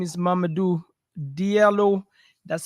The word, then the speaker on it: Diallo: into this channel guys my name is Mamadou Diallo that's spelled Diaz in David i-a-l-l-o and every single